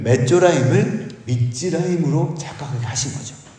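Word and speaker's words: מצרים: 그리고 우리가 읽기에도 비슷한 발음이 있습니다. 나병 환자들은 메조라임입니다. 메조라임. 근데 애굽의 군대는 미즈라임입니다. 메조라임을, 나병의 내병 환자 하찮은 그 메조라임을 미즈라임으로 착각하게 하신 거죠.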